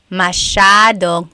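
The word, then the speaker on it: masyadong: Mashadong means a lot. So the s ya is a sha sound.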